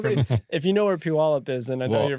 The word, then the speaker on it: Puyallup: Grew up was born in Washington, Puyallup, and then I'm from Washington. But right. Not from. If you know where Puyallup is, then I know you're from Washington.